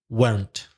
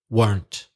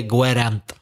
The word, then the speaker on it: weren't: one syllable mono syllabic weren't not two syllables one syllable weren't the middle e is silent don't say guerre amp nope say weren't and the question form